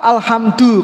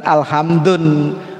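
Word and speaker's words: الحمد: Jadi bacanya alhamdu, bukan alhamdun, bukan alhamdin, bukan alhamda, bukan alhamdi.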